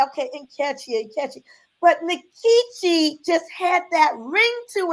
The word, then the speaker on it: Nkechi: And so I decided to keep my pronunciation Mhm. Nikichi as opposed to Nkechi because I theorized, well, our tongues have been colonized and Yes.